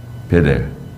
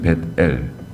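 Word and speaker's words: 벧엘: 베델. 벳엘이거든요. 벳엘. 우리에게 발음할 때는 베델이라고 발음할 수 있는데 원래 벳엘입니다.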